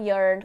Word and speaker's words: iron: E olha a pronúncia de iron, é iron e não iron. É iron, como se você dissesse I earn a lot of money.